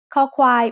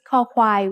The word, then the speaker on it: ค: คอควาย makes the sound k when it's the initial consonant in a syllable. It sounds like the letter K in kite or the C in cup.